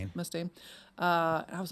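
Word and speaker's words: Mustaine: Is that how you pronounce his last name? Mustain. Mustain.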